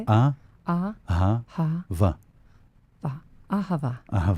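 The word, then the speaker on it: אהבה: Because if we take the word love, right, ahava in Hebrew. How do you say it? Ahava.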